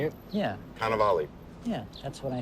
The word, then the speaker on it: Cannavale: Yeah, Cannavale. yeah, that's what I said. Cannavale. It's not Cannavale, it's not Carnivale, there's no R.